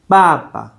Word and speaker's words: 爸爸: The first one is bà ba bà ba And that's father.